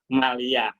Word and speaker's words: maliyah: Muamalah moliyah, nah, bacanya jangan moliyah tapi muamalah maliyah.